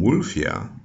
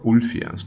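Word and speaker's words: Ulfilas: was a man named wolfia or ulfias depends on how you want to pronounce it but woofia or wolfia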